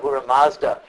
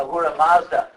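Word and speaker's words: Ahura Mazda: a surra and uh in Persia they pronounced the S like an H so this became Aura Aura Mazda and that's also like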